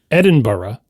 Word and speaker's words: Edinburgh: One is Edinburgh where it's b u h r u h bur edin.